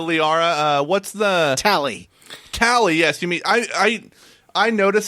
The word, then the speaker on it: Tali: these A's off of it because she's Tally, not Talia.